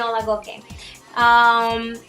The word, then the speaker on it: Olagoke: Okay, no, Olagoke.